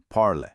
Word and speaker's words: parles: But, remember our silent s rule. You just say parles.